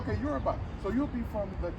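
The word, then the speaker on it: Yoruba: Euroba. Am I pronouncing it right? That's right. Okay. Euraba.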